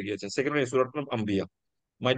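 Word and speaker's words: أَنْبِيَاء: কিন্তু নুন এবং বা পরপর থাকলে এটা কি হয়ে যায়? ইদগাম হয়ে যায়। মিম। ইদগাম হয়ে এটা কিসের মতো মিম। উচ্চারণ হয়? মিম। মিম। মিমের মতো হয়ে যায়।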